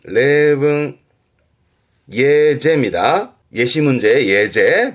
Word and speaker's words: 例文: 발음은 레붕, 레붕, 예제입니다.